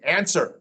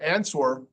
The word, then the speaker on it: answer: In the middle of the word, we have words that have a W that don't say anything. Answer, not answer, answer.